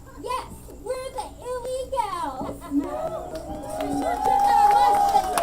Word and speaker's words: Ille-Gals: Excuse me, that's pronounced Ille-Gals?